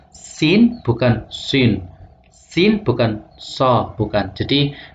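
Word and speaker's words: سين: karena pengucapannya adalah ee tarkik bukan tafkhim jadi bacanya sin bukan Sin Sin bukan SH bukan jadi misalnya asatirul Awalin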